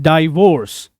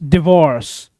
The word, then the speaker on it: divorce: लोग इसको wrong pronounce करते हैं डाइवोर्स, बट इट इज नॉट डाइवोर्स, इट्स डिवोर्स। डाइवोर्स नहीं, डिवोर्स। तो ये जो वर्ड्स बेसिकली